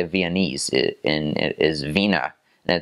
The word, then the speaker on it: Wiener: that's how you say Viennese in it is Vina and it's also what Germans will call a